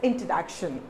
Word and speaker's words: introduction: So I'll tell you, this particular word has got 4 different syllables. I-N-T-R-O-D-U-C-T-I-O-N. So there are 4 syllabifications here. Now remember where you have to give the stress. So the stress has to be given in this area, above this D-U-C.